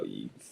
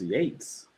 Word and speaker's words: Yates: Um Neil, it's pronounced Yates. Oh, I'm just looking at that right now in the bio. Yeah, it's pronounced Yates. It does not look like Yates.